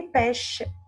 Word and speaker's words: pêches: Peaches means les pêches. Les pêches. Les pêches. Les pêches. Les pêches here is a silent letter. S. Bravo. S is silent.